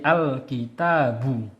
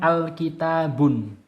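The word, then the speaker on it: الكتاب: Bacanya jadi al-kitabu, bukan al-kitabun.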